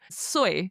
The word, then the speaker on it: soy: Now it's literally written jo y o soy s o y like soy sauce is the best way to remember it.